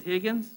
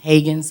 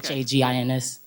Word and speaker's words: Haggins: you pronounce it Higgins? No, Hagens, I'm sorry, Okay. Hagins.